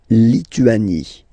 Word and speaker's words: Lituanie: La Lituanie. Remember in French, sorry, H doesn't exist, okay, so you don't pronounce it, and it's Lituanie, Lituanie, la Lituanie.